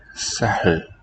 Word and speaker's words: سهل: So it's H followed by L with no consonant coming in between. Sahl. And that is shown سهل. here explicitly with that circle over the H سهل. letter called sukoon for silence. Cancels any vowel in that syllable, making that a coda.